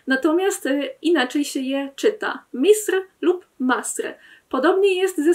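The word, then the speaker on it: مصر: I najlepszym przykładem na to jest samo słowo Egipt, które w standardzie będzie brzmiało Misr.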